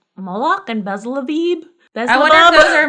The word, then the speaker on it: Beelzebub: B-E-E-L-Z-E-B-U-B. Beelzebub. Like Beetlejuice.